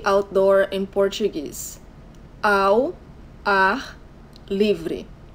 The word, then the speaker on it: ao ar livre: This is how you say outdoor in Portuguese: ao ar livre. But we say the two first words all together, so it sounds ao ar.